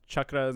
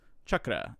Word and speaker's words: chakra: of internet sleuthing and discovered that it's actually pronounced chakra if you want to say it in the more traditional form so technically it can either be said chakra or chakra but in the sanskrit form the more traditional form it is chakra i watched a video